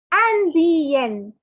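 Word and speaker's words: Indienne: And for girls, since there is an extra N and extra E, the pronunciation will be je suis Indian. Je suis Indian. Yen, Indian.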